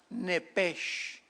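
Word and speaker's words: נֶפֶשׁ: ahí no dice alma la palabra nepesh. N E de Enrique, p de papá, sh. ¿Cómo suena? Nep. Es la palabra hebrea para alma. Neph.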